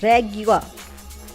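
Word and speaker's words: Régua: Is that how you say it? No, it's Regua.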